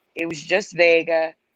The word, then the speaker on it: Wega: in fact vega not vega even though it's pronounced vega so it's it explains it that they collaborated